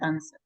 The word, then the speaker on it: answer: sad that like that answer absolutely Sylvia thank you very much okay guys great uh well I forgot my only to tell you answer answer remember that the W is silent that would be it